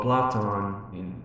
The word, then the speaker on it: Platon: Well, in a philosophical point of view, there is, for instance, the theory of Plato or Platon, as it is, the name is pronounced in ancient Greek.